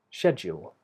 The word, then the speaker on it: schedule: so schedule Shadow and the stress of the word is on the first syllable schedule what's the schedule for today what's the